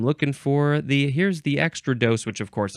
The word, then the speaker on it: extrados: for the here's the extra dose which of course I'm sure I pronounced it extra dose but that's not how it's pronounced um our one oh